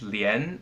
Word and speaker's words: 莲: It means lotus, and it's pronounced lian, as in lianhua.